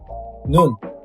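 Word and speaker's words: 눈: It would be Nu plus N. Nun.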